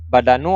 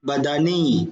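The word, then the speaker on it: البدنِ: Nadhafatul Badanu atau Badani, Pak? Badani, jadi idhofah.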